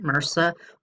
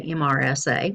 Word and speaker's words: MRSA: of superbugs like MRSA, and that's how you pronounce that, MRSA, or some people say MRSA, which is fine.